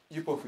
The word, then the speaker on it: UPOV: それが何かと言いますと、これ UPOV と書いてユポフと読みますけども